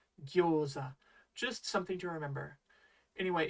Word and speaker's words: gyoza: You and I both see that the English is spelled with an O and not a U, and yet the Japanese really should be gyo-u-za, gyoza.